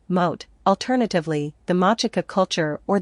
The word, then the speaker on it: Moche: According to Wiki, the Moche civilization, Spanish pronunciation, Mote, alternatively, the Mochica culture